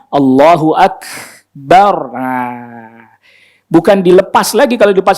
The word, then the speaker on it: Allahu Akbar: Kalau dibelokin atau digoyangin pasti kedengaran jadi ake. Itu. Allah, karena dia nggak tahan, dia lepasin lagi, jadi kedengarannya kayak mantur dan kedengaran Allahu ake, gitu jadinya kedengaran ditahan Allahu akbar.